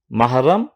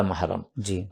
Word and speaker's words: মাহরাম: মধ্যে বিয়ে হারাম এরা মাহরাম এখানে একটু আমাদের ওলামায়ে কেরাম অনেকে এটাকে মোহরেম বহরেম বলেন এটা অশুদ্ধ উচ্চারণ শব্দ মাহরাম মানে যাকে হারাম করা হয়েছে